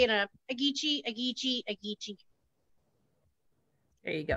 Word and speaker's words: Agitsi: It's Agitsi. Agitsi. Uh-huh, so it kind of reminds me of Etsy, you know, and everyone's got that down.